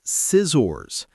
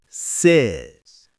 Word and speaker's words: scissors: It's not scissors. It's scissors. Say it with me.